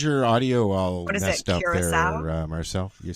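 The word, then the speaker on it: Curaçao: Caraco sounds better. Just saying. Listen, when I grew up, that's what we called it. So I didn't know. Yeah. But on the pronunciation, they'd say it's curacao.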